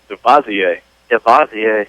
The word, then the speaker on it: DeVazier: How do you pronounce that last name? DeVazier. DeVazier. Yes.